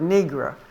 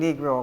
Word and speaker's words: Negro: nice way of saying negro according to them but Dr ma always said don't they say understand the two syllables knee and grow the knee and grow two syllables educated people couldn't use